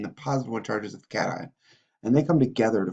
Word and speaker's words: cation: charged you'll notice that we kind of don't pronounce the words properly like normal English this is a cation and this is an anion because well because